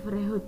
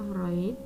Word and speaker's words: Freud: Nah, kalau dari Freud ini ya, jangan dibaca Freud ya, bacanya Freud.